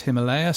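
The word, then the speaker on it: Ximalaya: So, Himalaya, which is spelled in China with an X but pronounced Himalaya.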